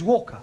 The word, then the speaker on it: Walker: all is that Mrs vka is keeping me busy Anna do this Anna do that she is a slave driver at Mrs Walker Walker what w is pronounced W your employer's name is Walker yeah Walker do you